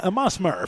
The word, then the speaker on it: Musmer: Also thanks to Caitlin Musmer for running our studio show tonight. Musmer, by the way, is how that's pronounced.